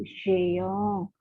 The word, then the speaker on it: géant: Kemudian yang berbunyi J lainnya, misalnya géant, raksasa, itu géant. Nama orang, misalnya Gerard, ya, itu J ketemu E dan I. Tapi kalau bertemu A dan O dan U dibunyikan G.